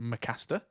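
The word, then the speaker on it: M★caster: It's M Starcaster. So I think that's pronounced Mcaster.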